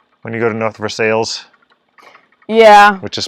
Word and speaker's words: Versailles: And then, yes, there is North Versailles. And it should be North Versailles.